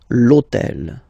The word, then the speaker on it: hôtel: starts with H, but remember that in French we don't pronounce H, okay, so basically the first sound of the word is the vowel O, okay, so for the same